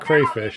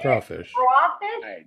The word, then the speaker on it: crawfish: they put it yeah it's not crayfish it's crawfish they say crawfish they look like little